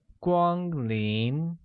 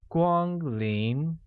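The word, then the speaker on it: 光临: in the presence of a guest translates to Gwang lien which is pronounced with a high level tone on a a mid rising tone on I making it Gwang lien thus welcome guests becomes Kwan in Gwang lien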